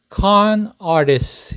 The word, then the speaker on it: con artist: 발음하시는 겁니다 그래서 안 아리스 UN AR List con artist 이렇게 발음하시면 됩니다 car artist 사기꾼이라고 해서 생각난 에피소드입니다